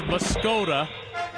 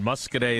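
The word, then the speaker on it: Muscoda: I like to read it as muscod, but I think phonetically claims to. That is correct. Well done. Muskete is the correct answer.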